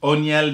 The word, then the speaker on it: O'Neal: You can call me O'Neal. Island boy. How do you say it, though? It's O'Neal. Yep.